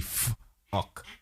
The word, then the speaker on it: FUQ: the FUQ line, the Fook line. Nice. It depends. If you have a soft pronunciation of Q, it's the Fook. And if you have a hard pronunciation of Q, is the Fuck, right?